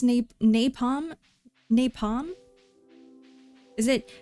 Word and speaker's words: napalm: It's pronounced napalm? Napalm? Is it, do you put the accent on the nay? Or do you put the accent on the palm? On the nay. On the, so it's like napalm.